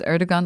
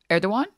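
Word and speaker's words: Erdoğan: Am I supposed to pronounce Erdogan like Hassan or Denims? Well, I'm not Turkish, so Hassan is definitely the person pronouncing it correct.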